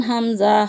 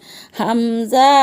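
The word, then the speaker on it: همزة: হামজা হলকের শুরু হতে শক্তভাবে আদায় হবে, নইলে আইন অথবা ইয়া অক্ষর আদায় হয়ে পড়া হারাম হয়ে যাবে।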